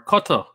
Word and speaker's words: Qatar: to them whoa whoa we got qatar or cutter as we should really be pronouncing it this is amazing stephanie